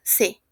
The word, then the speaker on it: ses: Para il, elle tenemos son, sa, se. La S no se pronuncia, d'accord?